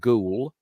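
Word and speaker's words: Goole: the river towards a town which is called ghoul uh g l e that's how we pronounce it of here in in uh Yorkshire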